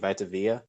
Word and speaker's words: Vita Vea: So Vita, that's how you say it, Vita Vea.